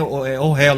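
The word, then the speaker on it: אוהל: No hebraico moderno é ohel, é um pouco diferente a pronúncia.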